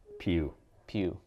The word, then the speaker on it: Pugh: Johansson for Jojo rabbit Florence Pugh pug I pronounce her name is ep g-p ugh pug putz pew-pew either way I love her she's my favorite